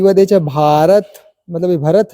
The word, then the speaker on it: भारत: है यदि जब बी के बाद एच आए तो बी एच को भ ध्वनि की मात्रा उच्चारण करते हैं ये सिंपल रूल है